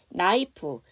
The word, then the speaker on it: knife: 나이프. KN으로 시작하는 단어는 K가 묵음이에요.